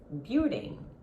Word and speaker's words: building: well building you did building building your tongue has to keep down when you finish the word you must not pronounce the letter G building no Beauty and